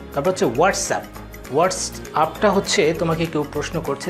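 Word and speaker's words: WhatsApp: একটু ব্যতিক্রম আছে সেই ব্যতিক্রমটা হচ্ছে WHATSSPACE UP হোয়াটসঅ্যাপ কিন্তু এইখানে মেইন উচ্চারণটা হচ্ছে লাস্টে সাপের মতো উচ্চারিত হবে যেমন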